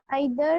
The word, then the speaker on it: either: either We can it pronounce was it at either or either.